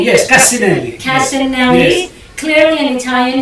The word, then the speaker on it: Cassinelli: Did I pronounce that correctly? Yes, Cassinelli.